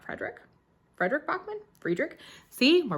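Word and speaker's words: Fredrik: o by Fredick Bachman I think it's friederick not Frederick Frederick Bachmann friederick see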